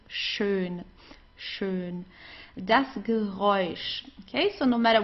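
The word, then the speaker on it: schön: Here you have an S ch. It's pronounced exactly the same way as the sh in in English. Okay. Like to shine or so. So, it's shun.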